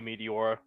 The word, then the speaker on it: Meteora: All right, everyone's got their meat except for you, Meteora. Was not spelled like that. It's M-E-T-E, not M-E-A-T. True, but it does sound like meat.